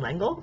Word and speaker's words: L'Engle: looked it up, and that's how you pronounce her last name in English. It's L'Engle, which is a little weird for me, but because it's a French name.